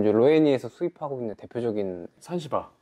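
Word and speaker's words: Sansibar: 로이에서 수입하고 있는 대표적인 산시바르 잔지바르 그냥 발음하기 편하게 예 산시바르 더넥타 어 크리스티 덜리 하고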